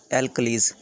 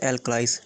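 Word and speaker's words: alkalis: Those basis which are soluble in water are known as एल्कलीज या फिर एल्कलाइज। ठीक है, जो भी आप प्रोनाउंसिएशन करना चाहते हो वो उसको बोल सकते हो।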